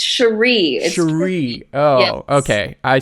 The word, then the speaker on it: Sharí: It's Sharí.